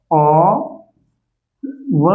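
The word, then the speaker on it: of: Means ऐसा ऑफ ऑफ इसको औ पढ़ते हैं। ऑफ नहीं पढ़ते हैं। ओ व इसका उच्चारण देख तो इसको औ व उच्चारण किया जाता है।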